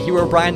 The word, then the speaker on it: Herobrine: of his replies says there's actually many different ways to pronounce Herobrin some people say Herobrine while we say Herobrin random fact lol yeah